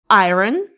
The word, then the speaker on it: iron: Is it iron?